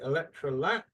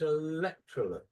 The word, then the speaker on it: Electrolux: Okay, now in Thailand, you tend to stress the last syllable. So you would say Electrolux, but the actual stress is Electrolux. So the stress is here.